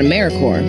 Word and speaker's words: AmeriCorps: is alive and well just spelled with a silent P so think of Apple core or core of the earth now that we have